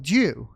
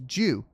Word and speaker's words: Ju: In English sounds like Jew. I was right. It's Jew. Jew.